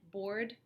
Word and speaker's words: board: you really want to get that hard rd at the end board board car board car board car otherwise it sounds like boar okay so you can